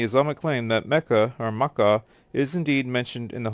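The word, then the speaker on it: Makkah: k k a h Maka which is a more accurate pronunciation derived from the original Arabic by considering this pronunciation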